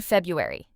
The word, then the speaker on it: February: February, but native speakers often skip a sound saying February. Let's practice Febuary. Together, February in a sentence, my birthday is in February.